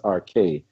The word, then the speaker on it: arche: You mentioned the arche in the actual pronunciation is arche.